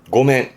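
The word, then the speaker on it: 御免: 고멘. 그러니까 위기를 면하기 위해서 내지는 책임을 면하고 피하기 위해서 하는 말이 그렇죠. 고멘, 미안, 고멘을 이 한자를 씁니다.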